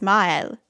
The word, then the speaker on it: Maelle: a so we have it's a little bit harder to go mile than to go no well because we can just glide on to the next syllable but it's mile again however you pronounce it is fine you can say male if you want okay nintendo didn't do